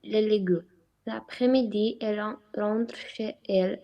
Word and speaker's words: chez elle: à vous faire alors Chezelle on fait une petite liaison là Chezelle on prononce comme un seul mot et ensuite n'oubliez pas